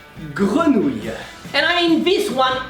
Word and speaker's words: grenouille: So the first part, gre, is pronounced like gru if you were a zombie.